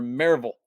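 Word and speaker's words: Maryville: the marville Tennessee area is it marville or marville well correctly pronounced it's marville there you go that's what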